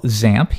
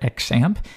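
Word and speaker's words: XAMPP: at something we call ZAMP. You might hear some people call it XAMP. Either one really works. There's no official pronunciation, but most people do ZAMP.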